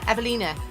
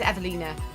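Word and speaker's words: Ewelina: ouch oh it's the the W pronounced like a V ever everlana of Evelina Evelina because Evelina that's what throws me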